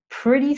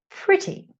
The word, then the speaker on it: pretty: So it's 'weh-thr', 'priddy scary weh-thr'. Sorry guys, American accent. And then the British. They tend to say 'pritty'. 'pritty' So it sounds more like how it's spelt.